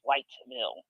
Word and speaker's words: Whiteville: I'm sorry, they call it Wildville, but it's Whiteville.